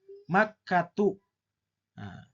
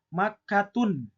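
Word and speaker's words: مكة: Makkatu. Nah, tidak boleh kita membacanya makkatun. Tidak boleh. Tapi harus makkatu.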